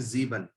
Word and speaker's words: sieben: तो 7 का जो हमारा स्पेलिंग है SIEBEN, इसको बोलते हैं जीबन।